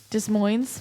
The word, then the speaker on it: Des Moines: sissie rain death sentence ugly bones spare change Dark Mirror from Des Moines Iowa and savagery there you don't pronounce the S dummy dis Moines the Des Moines Friday